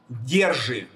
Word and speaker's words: Держи: и набегают за четыре держи. А вот год верхнего параллельного мира я назвал держи. Держит. Он все держит. Держи. Ударение на Е.